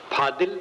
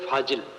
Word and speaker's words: फाजिल: फाजिल, फादिल, जिसको अपभ्रंश में फादिल कहते, ये चीज फादिल है, शुद्ध शब्द है फाजिल।